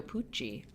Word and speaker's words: Pucci: This is a picture from Vogue, with Emilio Pucci, who, if you don't know, was a designer, rhymes with Gucci, but he was in the 1970s.